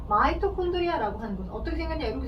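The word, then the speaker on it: mitochondria: 예전 교육과정에 최근 이제 영문을 그대로 한글로 옮기다 보니까 마이토라고 쓰는 게 현재는 맞고, 예전에는 미토콘드리아 이렇게 표현했어요. 미를 마이라고 읽은 거죠. 미를 이렇게, 그죠? 미를 마이로 읽는 것 뿐이야.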